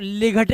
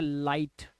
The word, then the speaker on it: light: अब देखो LIGHT, तो लिघट नहीं पढ़ना है इसको, ये हो गया लाइट।